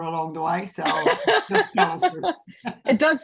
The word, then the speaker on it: Callister: things that she'll share with you today, Callister. I hope I pronounced your last name properly there. Sounds good? Yes. Yep, that's Ex good. Callister.